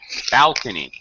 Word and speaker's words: balcony: Balcony. First syllable.